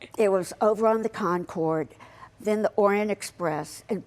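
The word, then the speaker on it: Concorde: The Concord.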